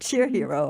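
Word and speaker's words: shero: I like that word, cheer hero, however you pronounce it. Shiro, yeah. Shiro, yeah. Not a hero. It's a Shiro.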